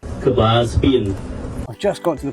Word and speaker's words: Kbal Spean: But we are at Kbal Spean. I'm definitely saying that wrong. Here's a clip of someone who can say it right. Kbal Spean.